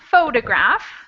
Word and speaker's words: photograph: way what that means the first word photograph has the stress on the first syllable the brown syllable there and so the shape they show you that the first syllable is more important or louder than the other syllables and then it's three syllables total the first syllable is stressed the next line we